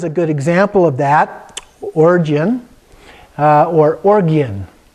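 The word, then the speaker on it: Orgyen: So the usual way would be Oregon, a little bit like the state Oregon, but it's not. But it has the hard G sound, but a lot of people also pronounce it Origin. So either way works.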